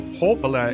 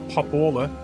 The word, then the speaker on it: Popola: Okay, so Popola is how you pronounce that, not Popola.